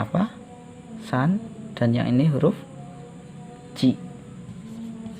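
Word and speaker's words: 三: Cara bacanya adalah san, yang berarti 3.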